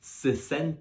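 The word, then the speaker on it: sesenta: a single letter so if we go back to how pronounced 60 which was sis send that 70 is sit end that sit bend that so make sure you really pronounce that T to make sure you're not getting confused from your 60s and your 70s then for 80 we've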